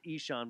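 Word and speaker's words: Ihsahn: yeah i h s a h n it's pronounced Ean because it's Norwegian okay Johnny Cash put a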